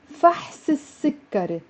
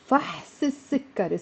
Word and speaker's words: فحص السكري: طلب فحص السكري. Notice how I pronounced it as one word with a liaison. فحص السكري.